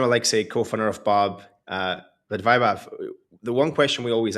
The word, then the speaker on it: Vaibhav: Vaibhav, I'm pronouncing it this right.